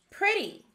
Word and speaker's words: pretty: in the trap column here's our next word pretty this word has two syllables first we have a closed syllable which